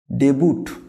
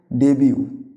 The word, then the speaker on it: debut: ডেবুট না, এর আগে বাংলা মানেটা আসি, যে কাজটা প্রথম করে। মানে তোমরা যারা মূলত এই ওয়ার্ডটা সঠিক উচ্চারণ হবে ডেবিউ।